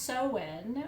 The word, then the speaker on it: Samhain: the tools are um um so samhain which is spelled s-a-m-h-a-i-n uh but it's pronounced so when or samhain because it's a gaelic word and